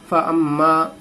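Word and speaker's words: فأما: فا زبر فا حمزہ میم زبر ام. فام میم الف زبر ما. فاما.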